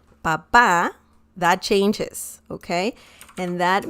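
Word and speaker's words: papá: how you pronounce it if you add an accent mark on the last a the letter a the last one papa that changes okay and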